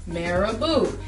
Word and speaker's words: marabout: a French word pronounce marabu it's a French word and it literally means